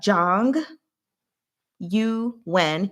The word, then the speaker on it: Zhang Yuan: So we have Zhang Yuan, you can say, or if you want to try to pronounce the U correctly, it's going to be you.